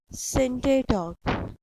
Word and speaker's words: Scinde Dawk: Syntae Talk. S is silent in this spelling and you will pronounce it as Syntae Talk.